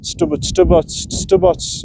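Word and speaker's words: Stuburt: I mean, Druids, the main products that I like to use are obviously the Druids, Island Green, and Stubbots. That's how you pronounce it.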